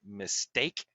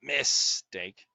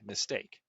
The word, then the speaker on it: mistake: The examples here are, we say mistake, not mistake, right? The stress is in the second syllable, steak, mistake.